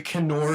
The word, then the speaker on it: Knorr: I'm fairly sure that Knorr is probably Nor. Okay. And the K is silent.